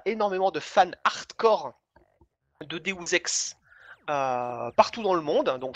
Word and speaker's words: Deus Ex: Je suis désolé de vous apprendre que Deus Ex se prononce Deus Ex.